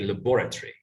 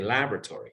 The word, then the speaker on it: laboratory: British people say laboratory, but Americans say laboratory.